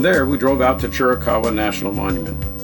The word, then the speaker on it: Chiricahua: From there, we drove out to Chiricahua National Monument. Yes, we believe that's the proper pronunciation.